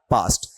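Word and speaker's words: passed: ए एस टी और पी ए एस एस ई डी दोनों का उच्चारण सेम है क्या है पास्ट आप बोलते हो ना पास्ट टेंस वाला पास्ट वही इसको बोलना है स्पेलिंग अलग है पास्ट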